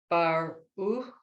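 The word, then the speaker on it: ברוך: bar, bar, baruch, Baruch. baruch, baruch. Right. It's a bet, a resh, the vowel U, not the U, not the vav, you know, it's an U, and the final chaf.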